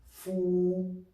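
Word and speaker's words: 福: Actually, the Chinese word for bat and the Chinese word for blessing is pronounced the same. Fu.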